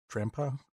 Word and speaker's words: Drampa: He had a pretty strong drampa grandpa that's how you pronounce it in the back and he had a pretty tanky null in the front.